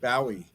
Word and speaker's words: Bowie: David Bowie yeah okay they pronounce his name David Bowie here in the UK who is David Bowie